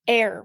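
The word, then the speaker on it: Aire: And now his name is Air with a silent E on the end.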